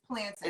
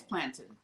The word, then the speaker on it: plantain: It's plantain. It's plantain.